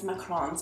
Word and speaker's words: macarons: for learning how to bake macaroons macarons I think it's macarons if you say it properly but the cute little